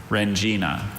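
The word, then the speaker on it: rendzina: Rengina. Okay. W-R-E-N-G-I-N-A, Rengina. Rengina is spelled R-E-N-D-Z-I-N-A.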